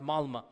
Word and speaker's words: Malmö: And in Stockholm, if you have 10% Muslim, I was in the city of Malmö. Malmö is spelled with an O, but it's pronounced Malmö.